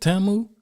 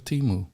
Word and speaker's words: TAMU: I just haven't proceed is that how you pronounce it TAMU I thought it was teu it's TAMU TAMU TAMU I thought it